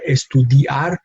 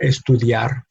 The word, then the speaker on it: estudiar: for example, with estudiar, we have I and A, two different vowels that one is weak, one is strong. So we put them in the same syllable, and that's how we pronounce it. No, estudiar, not estudiar, but estudiar.